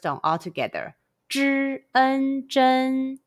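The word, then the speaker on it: 针: Zh, en, zhen. Repeat after me. Zh, en, zhen.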